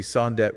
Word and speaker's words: Somdet: Yes, so it would be Sondet with a T at the end, not a J. Got it. Somdet toe.